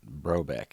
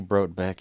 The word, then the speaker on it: Brotbeck: You pronounce it like the T is silent. Brotbeck. Brotbeck. Okay. It's technically Brotbeck. It's German.